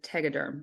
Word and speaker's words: Tegaderm: and surgery or nipple aola complex under a Tegaderm sorry I'm not sure if I'm saying that